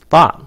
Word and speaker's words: thought: Còn cái này nó ngược lại, nó là thought, thought, nó nhanh gọn, thought vậy đó. Okay. Trong tiếng Anh đọc là âm t, yes, coi nó là âm t là dễ nhất. Cái luật của mình chế các bạn coi nó âm t là dễ nhất luôn á.